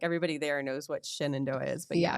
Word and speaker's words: Shenandoah: The way it's spelled. Shenandoah. I was like, Shenanigans University.